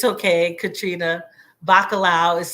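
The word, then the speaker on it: bacalhau: that you sit um there it's okay Katrina bakalao is spelled b-a-c-a-l-h-a-u thank you Katrina I appreciate you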